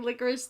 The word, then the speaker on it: Licorice: It's not like spelled like licorice the candy. No, yeah. It's like liquor and then ish, ISH.